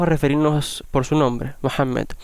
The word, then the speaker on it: Muhammad: quién fue magnet que en español le llaman mahoma pero que es un término realmente errado su nombre mohamed y de hecho es interesante que inglés se mantiene de forma más cerca de la pronunciación que en castellano pero sea como sea